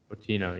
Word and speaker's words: Moutinho: Is it Moutinho? I'm gonna look it up. Makes sense. Milford has a lot of Portuguese people. Milford. Moutinho. Moutinho? Yeah. Moutinho, yeah.